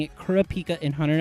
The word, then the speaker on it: Kurapika: Okay, and then correct me if I'm wrong on pronouncing it Kurapika in Hunter x Hunter. Yes, Okay. Kurapika.